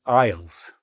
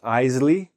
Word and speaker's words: aisle: Next, now we're going to walk through the supermarket, and the supermarket is divided into aisles. Not "aile", not "aisley". "Aisle", that's how we pronounce this word.